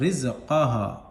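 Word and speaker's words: رزقها: रा जा, रा जा ज़ेर रिज, रा जा ज़ेर रिज, काफ ज़बर का, हा अलिफ ज़बर हा, रिज़क़हा, रिज़क़हा।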